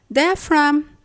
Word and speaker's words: diaphragm: We say diaphragm, paradigm, flam, assign, campaign, consign, design, foreign, rain, sign, nash, no, and gnome.